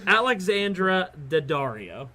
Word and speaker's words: Alexandra Daddario: look and my number one I can't even pronounce her name correctly is alexandra daddario you said right they say it right is